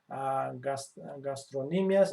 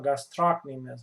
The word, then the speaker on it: gastrocnemius: So superficially you can see gastrocnemius or gastrocnemius. Both pronunciations are correct.